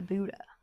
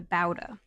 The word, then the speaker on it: Bouda: Firstly, I have the Bouda. The Bouda. Or the Bouda. Different pronunciations? Yes. One is B-U-D-A and the other is B-O-U-D-A.